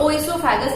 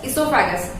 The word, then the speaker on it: oesophagus: देखो इसका spelling O से स्टार्टेड है बट इसका प्रोनाउंसिएशन इसोफेगस है। ये बात ध्यान में रखना, because I have heard many times that students are calling it ओइसोफेगस. Oh, it is not oesophagus, it is just esophagus.